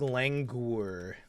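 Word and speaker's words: languor: You want to say it like langour.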